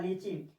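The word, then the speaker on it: lychee: Y papaya mean पपीता लीची लीची टी के बाद अगर सी एच दिख जाए टी के बाद सी एच दिख जाए तो टी को नहीं पढ़ा जाता है साइलेंट हो जाता है जिसे ना पढ़ा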